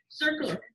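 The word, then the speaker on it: CERCLA: of texas too hey circular this is your very first environmental legislation they may call it circular c-e-r-c-l-a or they may spell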